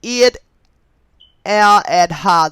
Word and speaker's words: Eid al-Adha: Jewish Messiah, and it also happened to be Eid al-Adha. Okay, and I'm going to spell that in case I mispronounced it, but it is spelled EIDAL-ADA. Okay, so okay, it also happened to be Eid al-Adha, the Muslim day to give praise to Abraham,